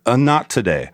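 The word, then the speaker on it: Anatidae: a fear of geese and it's and it's pronounced a not today like uh not today uh not today so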